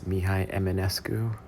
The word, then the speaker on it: Mihai Eminescu: It's Mihai Eminescu. I totally butchered it.